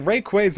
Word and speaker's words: Rayquaza: I think is that like rayquaza is supposed to be like Ray and quasar is I guess what's suppose